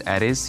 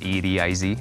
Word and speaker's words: Ediz: That my name is Ediz, you just spell it like it's 4 letters, E-D-I-Z, Ediz, and I'm from Turkey.